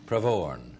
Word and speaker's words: Pravorn: Pravorn. Pravorn. Accent in the last syllable.